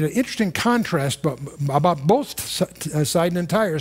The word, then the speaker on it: Sidon: I had a long discussion with an Israeli general about Saida, and it took me a while to realize that that's Sidon.